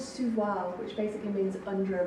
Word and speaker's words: sous voile: It's called sous voile, which basically means under a veil. Sous voile. Sous voile. You actually pronounced a few of the letters that time.